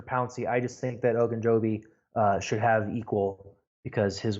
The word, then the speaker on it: Ogunjobi: Ogunjobi. Ogunjobi, Larry Ogunjobi.